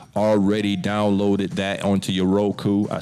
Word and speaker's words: Roku: If you are not already downloaded that onto your Roku, I said it correct, Roku, right?